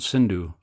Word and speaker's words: Sindhu: in Sanskrit is called Sindhu the Muhammadans pronounced s as H instead of Sindhu they made it Hindu so Hindu is a